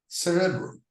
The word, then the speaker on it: cerebrum: But in cerebrum, the pronunciation is in the first syllable, cerebrum, and cerebrospinal in the adjective.